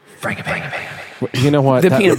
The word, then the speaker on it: Frangipane: Is it G or soft G or large G? It's like G as in Jif. Frangipane.